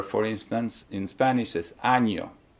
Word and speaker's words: año: Year, for instance, in Spanish is año. If you don't pronounce the ñ, it's a totally different word.